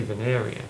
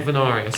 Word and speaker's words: Vanaria: you said it right some people say vanaria way sound I don't but uh I like venaria so anyway uh but